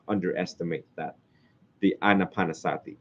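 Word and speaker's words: ānāpānasati: not underestimate that the anapanasati the PO word for it is anapanasati like Anna anaan Sati y'all know how to spell that an Ana P Sati s a TI anapan Sati okay a lot of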